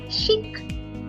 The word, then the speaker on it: chic: If a word ends with the letter C, pronounce it. Shik.